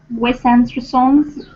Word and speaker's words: Wes Anderson: The stress is on and, make it big, and therefore the other vowels are basically swallowed.